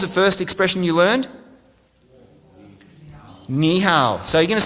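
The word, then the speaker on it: 你好: Ni hao. So you're going to say hello. Let's try this. Repeat after me. Ni hao.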